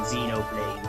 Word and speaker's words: Xenoblade: And I said you make the X the X there, you just say it like a Z and whatnot, and just go Xenoblade.